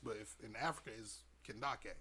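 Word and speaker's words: Kandake: the female King so it's spelled like Candace but just with case k-a-n-d-a-k-e can Dake but not a chance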